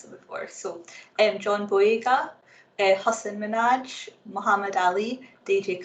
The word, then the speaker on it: Boyega: earlier, is actually John Boyega. But because obviously a lot of people can't say that Bo sound, he anglicized his name to make it easier for us to pronounce. But Boyega doesn't have any meaning in my language.